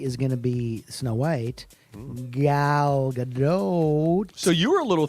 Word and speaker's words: Gal Gadot: care to share with us okay sometimes we disagree on how to say this woman's name gao gado gal gadot it's always gal gadot like oatmeal okay she's in the